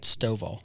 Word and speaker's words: Stovall: Is that right? Stovall. Stovall. Yeah. Stovall. Just like how it's spelled.